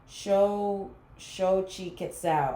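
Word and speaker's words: Xochiquetzal: Okay, so I see beauty in everything, and it's pronounced Shochi Quetzal. Shochi Quetzal.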